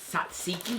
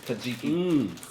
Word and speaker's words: tzatziki: Okay, I'm going to open up the Tatziki because you're not supposed to pronounce the T. Tatziki.